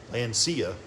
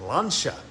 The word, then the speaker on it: Lancia: As a kid, I called it Lancia, but after watching an episode of Jay Leno's Garage, they pronounced it Lancia.